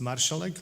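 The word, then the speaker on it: Marszałek: My surname is pronounced Marszalek, like a small marshal.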